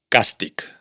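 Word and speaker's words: càstig: Mit the una de las escasísimas excepciones es la palabra castic, castigo, que no se pronuncia castich, sino castic.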